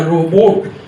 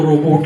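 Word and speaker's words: robot: लेकिन मैंने बोला रोबोट, तो उसमें भी कई लोग रोबो बोलते हैं, वो चेक लैंग्वेज का वर्ड है, रोबोट को रोबोट ही बोलना है।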